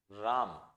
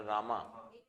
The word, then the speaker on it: राम: Hindi word, Buddha, Buddha, राम बोलो रामा, हाँ ये हाइफन होता था, क्योंकि the problem is इट is actually राम, राम, हाँ प्रोनाउंसिएशन का फर्क है, राम, हाँ कृष्णा, राइट।